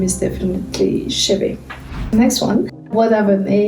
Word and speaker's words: Chébé: So Chebe is pronounced Chebe.